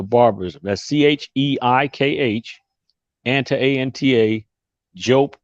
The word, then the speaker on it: Diop: That's Cheikh, Anta, A-N-T-A, Diop, and that's French pronunciation, but it's Diop, D-I-O-P.